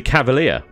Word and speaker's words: Cavalier: This is the Cavalier. Yeah, see? Clever, right? Because it's not even a... It's not a double E-E-R. Not a double E-R. It's an I-E-R. But it's still pronounced the same.